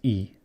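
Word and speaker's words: 胃: It's pronounced Ii.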